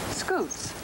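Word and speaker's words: scutes: called plates or scoots scoots that's spelled s-c-u-t-e-s you say it good these scoots are made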